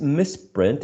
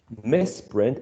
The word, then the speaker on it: misprint: there's a misprint um this misprint is one of those verbs in which stressing one syllable changes the part of speech messprint is a noun misprint is a verb let me show you